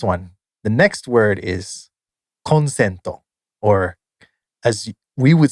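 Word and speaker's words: コンセント: It's pronounced consento, which means an electrical outlet where you plug in your stuff.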